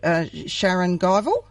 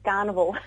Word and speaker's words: Scharenguivel: Now, you're one of the directors, if I got the pronunciation right here, Scharenguivel. Very close, Margaret. It's actually Scharenguivel.